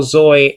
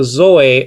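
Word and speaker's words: ζωή: Okay, en auto zoe ein, in him life was, literally says over here.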